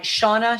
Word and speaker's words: Shawna: You're a ball of energy, Shauna.